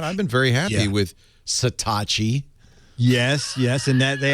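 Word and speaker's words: Satechi: on the internet s a t e c satachi she didn't tell you that she couldn't possibly have told you that's how it's pronounced of all the possible pronunciations that's not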